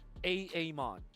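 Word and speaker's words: Aamon: sure you guys grab those Heroes now you're pronouncing it correctly a Amon but you like how I how I transition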